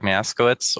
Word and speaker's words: Miaskiewicz: so my name is greg maskowitz or if you prefer unpronounceable polish names jagosmian i am a polish-american